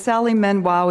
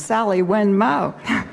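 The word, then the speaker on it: Sally Wen Mao: trying to say is Sally men Wow is a force and I think I just mispronounced her name's Sally when Moe she's a force her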